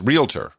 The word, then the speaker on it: realtor: Yeah, but it's realtor.